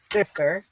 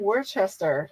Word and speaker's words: Worcester: Yeah, I remember my daughter saying, "Stop saying Worcester. It's not Worcester, Mom. Worcester." I'm like, "Well, it's not spelt like that."